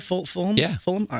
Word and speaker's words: Fulham: Am I pronouncing it right? Fulham?